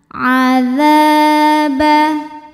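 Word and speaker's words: عذاب: ada alifnya waqina waqina adzaba a masukin tenggorokan Tengah bukan nga bukan A tapi a Adza dalzalnya ujung lidah sentuhin lagi sama ujung gigi seri atas dza dza kemudian karena depannya ada Alif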